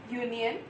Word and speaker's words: union: Okay, now even though this word is starting with U, it has the pronunciation of Y.